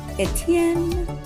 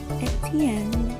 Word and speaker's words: Étienne: So you know how you would say, like, kind of sing-songy. That might help you remember. Étienne, Étienne, Étienne.